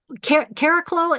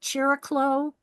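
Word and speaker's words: Chariklo: Caraclo is how I say it. Melanie Reinhart calls it Chiriclo, Chiriclu.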